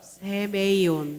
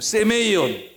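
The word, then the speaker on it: σημεῖον: 세메이온. 발음 좋으시네요. 세메이온.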